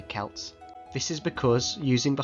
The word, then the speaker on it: Celts: However, English academics still preferred to use the hard C to say Celts.